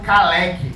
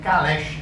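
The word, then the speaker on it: Kalecki: Na outra atividade eu recomendei um texto do Michael Kalec, ou Kalesch, a depender da pronúncia, Aspectos Políticos do Pleno Emprego.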